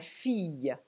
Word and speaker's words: fille: Quand vous avez I suivi de 2 L, soit on prononce I, soit il. Par exemple, la fille, la famille, mais la ville, 1000.